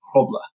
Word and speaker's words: Grobler: But it's actually pronounced Grobler.